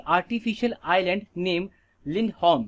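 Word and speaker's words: Lindholm: Okay, लिंडहोम बोलेंगे इसको, ठीक है, होल्म नहीं है ये, लिंडहोम। ठीक है, इसका ई करेक्ट प्रोनाउंसिएशन।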